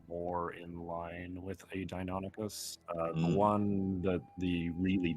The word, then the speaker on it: Deinonychus: Deinonychus, or some scientists pronounce it Dinosuchus, but I think they're dumb.